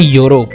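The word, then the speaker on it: Europe: है yes guys और ये यू से शुरू नहीं होता ये ई से शुरू होता है लेकिन प्रोनाउंस होता है यूरोप यस गाइस क्या तुम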